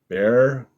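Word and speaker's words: Bair: And this is art by Bear, B-A-I-R. I guess it rhymes with hair, and Boz.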